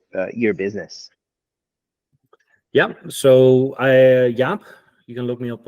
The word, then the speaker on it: Jaap: at you know your business yeah so I Yap you can look me up on LinkedIn as well uh it's spelled j AAP there's not too many of